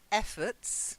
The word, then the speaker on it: effort: so first of all efforts not efforts it's not a force no efforts yeah no it's the ending it's got the schwa not fought effort okay